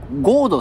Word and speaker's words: 神門: もっていうね神もゴードって読むらしいんですけどま僕